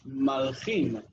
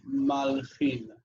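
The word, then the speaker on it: מַלְכִין: would be mlachim, but in Aramaic it's malchim. The first thing you notice is the nun, final nun instead of final mem. The second thing is that you have a closed syllable at the beginning, where in Hebrew the first letter bears the reduced vowel shva. So mlachim is malchin.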